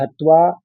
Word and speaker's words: हत्वा: पहले लाइन में, पहली पंक्ति में गुरून् हत्वा हि महानुभावान्, ये सीधा-सीधा आप पढ़ लेंगे। हत्वा आपको जरा सा दो त का उच्चारण करना है, हत करना है, फिर त्वा आगे देना है।